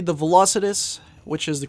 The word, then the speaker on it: Velocitus: and anyway sikis I'd have to say the velocitus which is the correct way to pronounce it is definitely a good choice especially